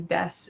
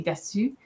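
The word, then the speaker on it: です: So, but you only pronounce this part. You don't really say desu.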